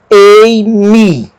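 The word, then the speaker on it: εἰμι: Ela se pronuncia junto com a palavra anterior, mas eu vou pronunciá-la separadamente agora. Ei-mi, ei-mi, egoi-me, egoi-me.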